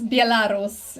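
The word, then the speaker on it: Białoruś: chill out it's okay it's bialaros and um that's how we say it in poland wait how do you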